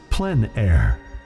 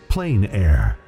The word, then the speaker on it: plein air: air or outdoors the French pronounced it plan air others say plein air no matter how you